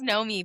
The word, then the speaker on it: Naomi: And he goes, he said, he goes, "It spelled like Naomi, but it's pronounced Nomi."